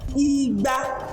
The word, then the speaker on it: Igba: Do mi, you put sign do mi, you can see Do, mi, do. Do, mi, Igba.